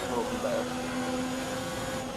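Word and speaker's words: Hülkenberg: I don't know how you say it in English, but in the Netherlands it's just Hulkenberg.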